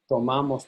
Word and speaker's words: tomamos: Outside the boot, in nosotros and vosotros, you stress the ma syllable.